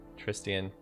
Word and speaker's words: Tristian: We got Tristan back. Or Tristian back. Tristian. Gotta say his name right.